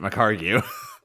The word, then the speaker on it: McHargue: It is not McHargue for everyone who has read his name on the internet for so long, and like I did, pronounced it McHargue. Ignore the UE. It is a worthless addition.